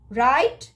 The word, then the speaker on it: write: l nil so wrist right knife hour and nil here you can see the silent word letters are w in wrist w rit right w is silent k ni if a